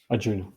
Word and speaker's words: Arjuna: do you pronounce Arjuna Arjuna okay yeah in India The The J is a j unlike a y here sometimes in Europe so it's Arjuna and